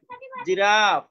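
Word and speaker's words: giraffe: zebra জিরাফ না দেখো এই র মধ্যে দেখো এখানে Araf জিরাফ জিরাফ a long আছে দেখো এখানে আ এটা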